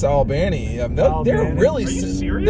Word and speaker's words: Albany: Well, it's pronounced Albany.